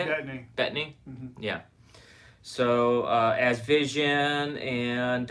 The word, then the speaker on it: Bettany: It's hard to pronounce his name. Paul Bettany. Is that how you say it? Bettany.